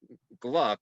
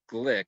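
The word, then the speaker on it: Glück: thought it was elise gluck but she pronounces it glick because it has uh the umlaut over the u um and her credentials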